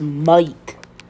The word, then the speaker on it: might: Next spelling is might. So this GH does not really make the sound of G. So instead of putting those